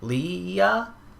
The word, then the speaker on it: Leah: They started dating when Leah?